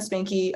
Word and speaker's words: Spanke: everything from there and that's Spanky s p a n k e yes yes I meant